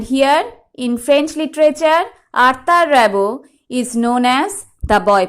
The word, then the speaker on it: Rimbaud: So, right from the pronunciation of his name, it is clear to you that he is a French poet.